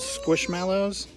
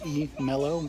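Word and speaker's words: Squishmallows: tag these are called squish mallows spelled with an a which always throws me off i want to say it's e mellow but it's mallow this one would be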